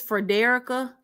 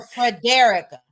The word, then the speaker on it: Frederica: y'all no no no I've been saying her name wrong the whole time and I watched one of her videos that her and her husband did and when she said her name I said now why my good sis been letting me say her name so Frederica yes she probably just know